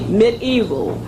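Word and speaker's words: medieval: to look at that word it is spelled pronounced excuse me mid evil but it is spelled media evil m e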